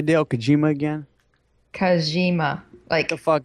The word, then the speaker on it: Kojima: How do you pronounce it, Alice? Kojima.